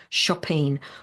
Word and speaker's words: chopine: shoe called a shopping spelled chopene but but pronounced chopine which were worn by Venetian.